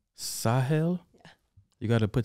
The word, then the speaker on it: Sahel: east how do you say your name again sahil sahel yeah you got to put the hat in